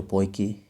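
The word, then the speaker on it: Poaceae: family इसकी देखें तो पोकी या पोइस जैसे भी प्रोनाउंस कर ले पोकी और उसके बाद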